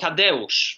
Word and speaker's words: Tadeusz: Oh, Tadeusz. Tadeusz, okay. Tadeusz, yeah, it's actually the same name as Kościuszko, right? So mm-hmm. it's Tadeusz Kassern is that's the composer that you are asking mm-hmm.